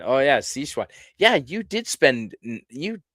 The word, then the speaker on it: Sichuan: Uh, William Shakespey, it's pronounced Sichuan. Oh, yeah. Sichuan.